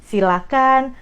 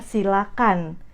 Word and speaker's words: silakan: kan kita bedah doeloe keep pronounciationnya jangan pakai ha itu yang paling penting jadi Silahkan persilahkan jangan pakai itu dari pronounciationnya Nah kalau dari katanya